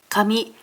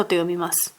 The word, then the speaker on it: 紙: It is pronounced as KAMI and SHI 「スペイン語で本を読みます。